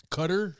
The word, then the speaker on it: Qatar: So, if you don't know, World Cup is happening in Qatar. Cutter. So people want to pronounce it light like that and USA soccer team lost Saturday morning and it was sad.